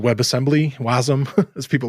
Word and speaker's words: Wasm: figure out web uh what's it called webassembly wasm as people like to pronounce it oh that's cool yeah and the